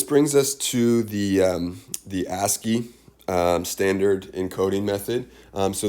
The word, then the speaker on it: ASCII: without even really knowing it it's called it's a s c i i american standard code for information interchange but it's pronounced ascii when you when you use the